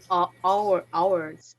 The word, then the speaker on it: ours: Now the possessive pronoun is ours. Okay, Larissa? The O mesmo que hora. the same pronunciation, okay?